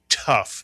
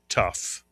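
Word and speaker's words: ת: It makes the sound of T. Mitsuyana. It's called a tough.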